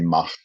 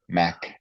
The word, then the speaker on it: Mach: And I just got the proper pronunciation of his name, Neil Mach. With my German, I was going to say Mach, or my Dutch Mach. Yeah. Mach.